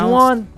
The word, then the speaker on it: Juwan: That's just how it's pronounced. Juwan? Is there Juwan in the room? It's Juan.